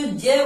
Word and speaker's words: ज्ञ: इसको जय बोला जाता है, ना कि गे। हम बोलते हैं ज्ञानी, ज्ञानी नहीं होता, ज्ञानी होता है, तो इसमें क्या जाएगा, जय।